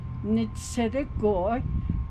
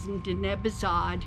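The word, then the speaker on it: Ntsidigo'í: So today we are making Ntsidigo'i, and it's called Kneeldown bread.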